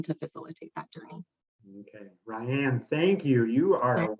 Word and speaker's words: Rayan: And I don't see any at the moment for you, Rayan, but if any It's Rayan.